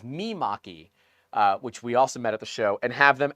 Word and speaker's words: Mimaki: I've always said Maki or Maki. It is Mimaki.